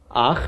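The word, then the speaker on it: אח: Pronounced im. Okay? So, for a masculine noun, let's take ach. Okay. Ach. Ach means brother.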